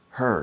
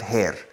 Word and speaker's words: her: more Zeus her eyes her her not hair Spanish people say hair her eyes hair is